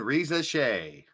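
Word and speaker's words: Risacher: Get used to saying Reza Shea. He says, I still can't pronounce that.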